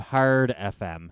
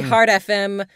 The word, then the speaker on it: Heart FM: Glad to hear you're saying it better on Heart FM instead of Hard FM. Hard, Yes. hard Yeah. FM. That should be Heart FM. Heart FM 101 is enunciate Yeah. the T.